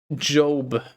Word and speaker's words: Job: It's pronounced Job.